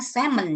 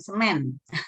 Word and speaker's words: semen: Ini bacanya semen ya, bukan semen. Kalau cairan semen yang untuk apa batu bata bukan, cairan semen gitu.